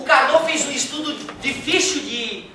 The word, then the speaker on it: Carnot: A pronúncia correta é Carnot, né? Claro que se alguém quiser falar Carnot, não tem problema nenhum. Só não fala que eu te ensinei, né?